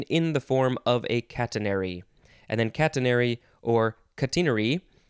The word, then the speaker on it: catenary: It looks like the British say catenary, because of course they do. Catenary or catenary.